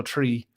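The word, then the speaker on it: Three: confused people even more, because how in Ireland people don't pronounce their H's. So it was We Banjo Tree, Roots of the Banjo Tree.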